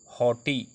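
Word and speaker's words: haughty: प्रायः साइलेंट रहता है, जैसे एच ए यू जी एच टी वाई हॉटी, इसको जी H silent, H ए यू टी वाई हॉटी पढ़ेंगे, जी एच को नहीं पढ़ेंगे, हॉटी।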